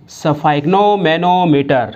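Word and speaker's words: sphygmomanometer: जैसे स्फाइग्नो, स्फाइग्नो इतना बोल दिया तो उसके बाद में बोलो मैनो, उसके बाद में बोलो मीटर, यानी स्फाइग्नो मैनो मीटर।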